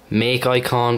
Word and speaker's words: MakIcon: on from Cydia called make icon but it's spelled Mak icon now this is kind